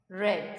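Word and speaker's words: read: बेगन okay रीड रेड रेड spelling same होती है लेकिन हम इसे रेड बोलते हैं राइट अब ये जो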